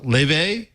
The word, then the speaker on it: Laufey: It's pronounced Leve. It's spelled Laufey, but she is an Icelandic.